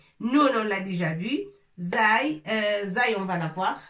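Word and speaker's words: زاي: Et ça se prononce Zay.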